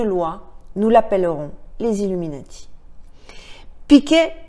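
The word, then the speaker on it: Pike: Piquet, ou Picque, parce que ça s'écrit P-I-K-E, aimait à dire que Lucifer est Dieu et que Jésus est contre Dieu.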